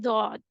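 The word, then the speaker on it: ضاد: The upturned side of the tongue touches the gums of upper back teeth.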